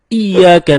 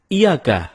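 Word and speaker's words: إِيَّاكَ: temen-temen ketika kita membaca iyyaka nabudu wa iyyaka nasta'in ada yang membacanya dengan Iyakah tidak menekan huruf Ia seperti seperti sebagaimana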